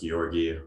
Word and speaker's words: Georgii: Okay, so to introduce myself, my name is Georgii. I'm a senior program architect, specifically for Communications Cloud at Salesforce. I'm based in Singapore. My name is pronounced Georgii with a soft G, not Georgii.